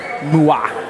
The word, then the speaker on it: moi: Liar John says, moi rhymes with toi. Isn't that what I'm saying? Moi? I don't know. Are you saying I should emphasize a little bit more? A little bit more emphasis? Moi.